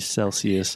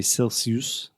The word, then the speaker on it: Celsius: Alexia says it's freezing when it's like 24° Celsius no but there's this nowadays no nowadays I'm better I would say I'm freezing with 10 degrees Celsius nowadays yeah okay just one thing Alexa you